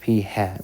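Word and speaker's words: p̂: is a statistic uh we just use the Hat pronounced P hat when symbols are used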